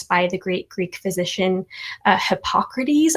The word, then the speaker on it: Hippocrates: the great greek physician hippocrates i believe that's how you say his name um you have the he wasn't a hypocrite he was hippocrates right yeah yep um